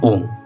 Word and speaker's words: ओम: ओम को तीन हिस्सों में आप बांट दो। पहला अ जो कि पेट से शुरू होता है। दूसरा उ जो कि छाती तक लाओ। उसके बाद होता है म सिर में वाइब्रेट करो।